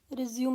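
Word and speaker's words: résumé: आज का हमारा टॉपिक रहेगा रिज्यूम में राइटिंग। सबसे पहले तो आपको इसकी प्रोनाउंसिएशन पता होनी चाहिए।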